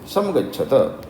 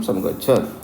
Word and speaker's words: समगच्छत: निर्गतम सम तेजस ततक्यम समगच्छत। अब समगच्छत में पूरा ता निकालना है अपने को क्योंकि अपने को हलंत नहीं है उसमें समगच्छ।